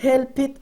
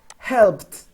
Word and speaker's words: helped: example in this case we don't say i help it no that's incorrect incorrect sang curette okay do you say i helped helped light pronounce like i pronouncing at t at the